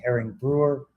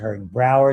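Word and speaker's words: Hering-Breuer: This is herring brewer reflex or herring brower depending on who pronounces it.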